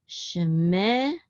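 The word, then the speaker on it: שְׁמֶךָ: Now in the beginning, the shava is going to be pronounced. So this is shemecha, shemecha.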